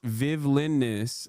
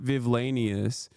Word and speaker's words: Vivlinus: Where it's pronounced Vivlinus, like the word villainous, not Vivlanius.